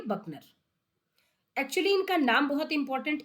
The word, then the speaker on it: Buchner: Spelling है BUCHNER, आप इसे बोलेंगे बकनर।